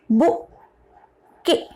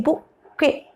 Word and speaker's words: bouquet: Now say again this word bouquet. Remember that T is silent. We don't have to say, right, T here. Que, K. A is there, so E is coming. This is K, bouquet. Say bouquet, bouquet.